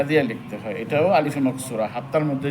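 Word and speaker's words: موسى: যদি না থাকে ওটা আ উচ্চারণ মুসা ঈসা লেখার সময় কিন্তু ইয়া লাগে কিন্তু ওটা মুসিনা ইনা কি মুসা ঈসা ওটাকে আলিফে মাকসুরা বলা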